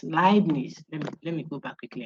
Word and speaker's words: Leibniz: People say, I had a student say it's Lebanon. It's Leibniz. So if you saw EI, like Einstein, see, the name Einstein starts with E and I. I suspect it's German or Dutch or something. I think it's German. So Ein, Heineken, those who drink that, high, you see, EI, but it's not hey, it's high.